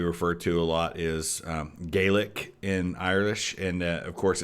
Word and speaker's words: Gaelic: to a lot is Gaelic in Irish and of course it's spelled exactly the same in Scotland but it's pronounced Golic in Scotland recrendition of the local